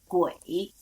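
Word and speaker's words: 癸: In water, we pronounce is Gui.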